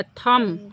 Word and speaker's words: thumb: THUMB क्या हो गया? थम। क्या पढ़ेंगे? कौन साइलेंट हुआ? बी। TOMB क्या पढ़ेंगे?